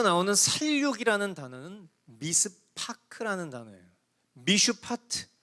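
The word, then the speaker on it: מִשְׁפָּט: 선한 일이라는 히브리어 단어는 미슈파트라는 단어예요. 근데 이어 나오는 살육이라는 단어는 미스파크라는 단어예요. 미슈파트, 미스파크, 비슷한 발음으로 대조를 이루고 있는 거예요.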